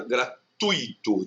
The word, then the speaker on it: gratuito: É uma paroxítona gratuito, então o tu e o i são pronunciados na mesma sílaba, tá?